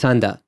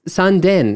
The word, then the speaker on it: Sanda: is mita no it's sanda yeah okay oh no this is this is sanden no it's sanda you know it's just